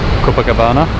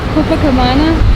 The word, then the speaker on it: Copacabana: How do you pronounce this beach again? Copacabana. Copacabana.